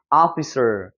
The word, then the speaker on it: officer: 그 다음에 이 단어 같은 경우는 복습 차원에서 한번 들여다보면 여러분 O에 강세가 들어가면 아 사운드가 날 수 있다고 그랬죠. 그래서 오피스가 사실 아니에요. 확인해 보면 officer, 아 발음처럼 나는 거예요.